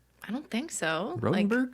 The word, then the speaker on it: Rotenberg: has 2 T's, but my last name only has 1, so it's pronounced rote. But despite that fact, they used to say Rottenberger to me all the time.